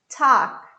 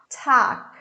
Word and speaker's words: talk: tiger tiger tuck tuck remember this l is mute we don't pronounce it it's silent talk talk teenager teenager the stress